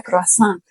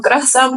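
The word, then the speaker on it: croissant: sobre cómo se pronuncia croasan. Okay. Y la gente llega a me da un croazan, por favor. Croasan. Entonces, no eso.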